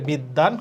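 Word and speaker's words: বিদ্বান: বিদ্যান, এখানে দয়ের সাথে বফলা আছে মানে দ কয়টা হবে, দ দুইটা হবে, তাহলে বিদ্যান।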